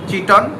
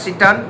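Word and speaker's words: chiton: যেটা উচ্চারণ করবে বা চিটন বা সিটন যেটা উচ্চারণ করবে এইটা হচ্ছে ওই এানিমালটা তাহলে আমাদের এটা টা শেষ হলো।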